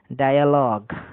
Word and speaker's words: dialogue: এক্সাম্পলটা হচ্ছে DIALOGUE, এখানে IA আছে, সামনে আই এর আগে ডি কনসোনেন্ট, পেছনে একটি কনসোনেন্ট এল, তাহলে উচ্চারণটা কি হবে? ডায়ালগ, ডায়ালগ উচ্চারণটা হচ্ছে, এটাই বলা হচ্ছে।